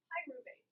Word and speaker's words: pyruvate: Wait, Miss Lehman, how do you pronounce that? Pyruvate. Pyruvate? Pyruvate, yes.